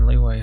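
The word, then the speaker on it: Liyue: I think it's strange it's pronounced leeway but it's spelled with a Y so it's not Lea jewelry even though I brought all of this personally from minging jewelry and leway harbor they're the best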